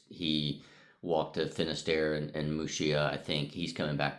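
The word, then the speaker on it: Muxía: Tim uh walked to Mushia, Muxia, but I think it's pronounced Mushia. We might say Mxia in English.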